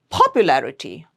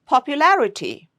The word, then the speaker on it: popularity: So popularity, it's not popularity or popularity or popularity. No, it's popularity.